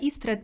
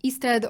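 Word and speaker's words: Istredd: She mentions that Istred thinks that this is becoming a rule. Istred, or how English speakers usually pronounce it, Istred, the mention of him really annoys Geralt.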